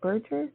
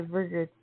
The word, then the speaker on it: Burger: wonderful thank you so very much am I pronouncing your last name is it Burger did I say that correct you know it's